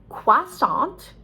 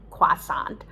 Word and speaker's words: croissant: to do i don't but you could say croissant with a kw sound croissant um but anyway many americans are not sure about how to pronounce that so it's actually very simple croissant uh and etc a